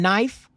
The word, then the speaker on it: knife: and not why is there a k and knife because at one point it was pronounced knife but they said it was a